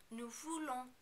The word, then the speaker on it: nous voulons: Also, be careful not to overpronounce the N at the end of the verb. Nous voulons, nous voulons.